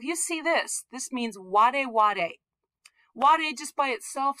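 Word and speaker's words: 我: In Chinese, this means I. And it's pronounced wo in Chinese, but in Japanese, it's pronounced ware.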